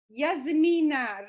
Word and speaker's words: Yasmina: We already had a little conversation, but I'm so excited to zoom in with Yasmina Rossi. Please, yes, did I say it correctly? yes, it's great.